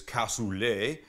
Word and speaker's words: cassoulet: says that a cassoulet the French pronunciation is cassoulet is a rich slow-cooked